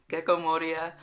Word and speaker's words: Gecko Moria: Gecko Moria is introduced. I feel like I'm trying too hard to pronounce it, but like that's how it's pronounced. Gecko Moria.